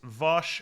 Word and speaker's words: Vash: right uh vosh uh Vash would be if it's Trigon Bosch is how they say it here uh so it's it's it's it's it's vosh and this is a